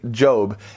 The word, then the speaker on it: Job: of a guy named Jobe and this guy's name is so unique in and of itself that's because it's spelled like the word job right like Jo B if you've never heard of Jobe in the Bible he's